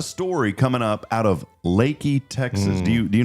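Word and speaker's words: Leakey: It's pronounced Lakey. Yeah, Lakey. I used to say Leaky, but it's it is pronounced Lakey.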